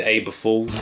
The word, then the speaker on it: Aber Falls: We decided to go to Aber Falls. What are we doing today? Not too sure. What are we doing? Exploring. Jeez. Guys, we're at Aber Falls. You could say it rhymes with April Fool.